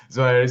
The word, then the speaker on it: Zouhairi: Um yeah, my name is Zouhairi. That's how I pronounce it. Zouhairi.